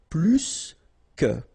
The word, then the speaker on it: plus que: in that case, remember, plus will be with the S. So pronounce it plus que.